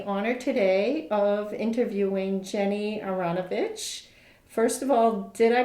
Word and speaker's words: Aranovitch: I have the honor today of interviewing Jenny aranovic first of all did I pronounce that okay it's close enough we say aranovic but yes it's fine okay well I know